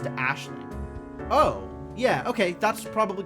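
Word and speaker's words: Aisling: think is usually pronounced Ashling.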